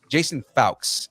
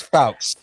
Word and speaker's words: Fuchs: with Barbara Muschietti and Jason Fawkes is how you say that name. Are you sure? It's Fawkes.